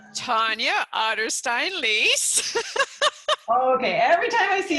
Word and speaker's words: Otterstein-Liehs: I always say, think of the animal, the otter, and a stein, like a beer.